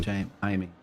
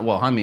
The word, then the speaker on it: Jaime: Jamie. Yeah. Is it Jamie or Jaime? Jamie or Jaime? I'm sure it was Jaime Mendoza. Yeah, it's Jaime if you want to pronounce it correctly in a different language.